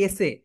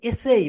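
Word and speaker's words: essay: ইংলিশে রচনাকে বলা হয় এসে। সো তোমরা যারা মানে বড় হবে, বড় ক্লাসে যাবে, তোমাদের শিক্ষক বলবে যে এসে এসে এসে। এটা রাইট প্রোনাউন্সিয়েশন হবে এসেই, বলো এসেই, এসেই।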